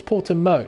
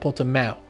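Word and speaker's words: Portimão: of portuguese people get quite upset when you pronounce the wrong apparently it's porter mo not porter mao apparently i don't speak portuguese very well but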